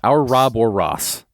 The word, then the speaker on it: Ouroboros: Our Rob or Ross.